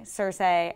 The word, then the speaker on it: Cersei: much flack for it, George R. Martin pronounces Cersei Cersei. And years ago I started pronouncing it that way. I got so much flack for it. And even if you watch the show, the actors and and everyone else, they say Cersei in their British accents, not Cersei.